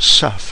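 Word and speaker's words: CEF: as Cisco Express forwarding or CF pronounced SEF in the industry so you can use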